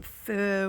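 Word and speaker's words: pho: recipes we make some fur we also or faux depending on how you pronounce it um we also kind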